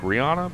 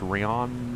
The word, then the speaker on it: Rhiannon: 22 hours ago rihanna rihannon kind of like rihanna but it's not rihanna it's rayon now rihanna 22 hours